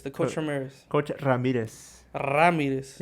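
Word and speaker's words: Ramírez: coach Ramirez coach Ramirez Ramirez you got to roll your RS if not coach Ramirez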